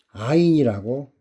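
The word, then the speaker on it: ע: 아인이라고 읽습니다.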